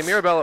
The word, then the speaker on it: Mirabella: I got to say, Mirabella Orland looks very dominant on her with her skating and ability to move the puck around. All right. And a great 3-syllable name, Mirabella. No, it's 4 syllables.